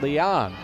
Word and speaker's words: Leon: Again, our apologies, Steph Leon. The proper pronunciation we learned, not Steph Leone, as we've been calling her for the last several years.